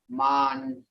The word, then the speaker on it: man: See, that looks like man in English, but it ain't. Because we pronounce ours me, ah, ni. Man.